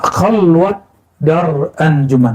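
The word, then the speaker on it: خلوت در انجمن: Nah, khalwat dar anjuman, bukan khalwah ya.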